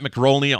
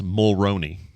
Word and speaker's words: Mulroney: You say his name's Dermot, like Dermot, and his last name is Mulroney. Mulroney. No C in that last name.